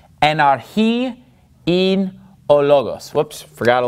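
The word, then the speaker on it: λόγος: arji and our and notice in logos i'm putting the stress on the first syllable because that's where the accent mark is and are he in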